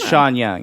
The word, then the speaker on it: Sean Young: The lady who plays Rachel, her name looks like it's pronounced Sean, but it's Sean. I'm sure it's Sheen Young. I think. Oh, it is Sean Young.